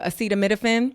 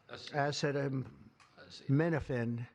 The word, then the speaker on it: acetaminophen: It was funny to hear him try to pronounce that that were acetamophen. The FDA will be notifying physicians that the use of well, let's see how we say that acetaminophen acetaminophen.